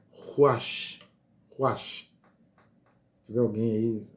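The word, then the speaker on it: רוח: A palavra espírito, em hebraico, é ruach. Ruach. Se tiver alguém aí, eu acho que a pronúncia é bem essa aí, ruach.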